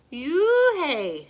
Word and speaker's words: Unhei: no no unheir corrected it's spelled u-n-h-e-i it's pronounced oh it's you hey said the boy like you hey what about hey you